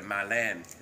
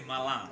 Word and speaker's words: Malang: And we also learned a lot the background about the Malan. We know Malang. Malan. This is You better say Malang.